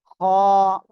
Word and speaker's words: خ: গলা গলার মধ্যকার না এখন গলার শেষ ভাগ অর্থাৎ জিহ্বার গোড়ার কাছাকাছি জায়গা থেকে আমরা এটা উচ্চারণ করব খ সবাই একসাথে বলেন দুটাই